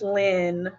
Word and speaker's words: Lyne: It was my either middle Cody name or is my middle name is Line, even though my mother insists it's Lynn.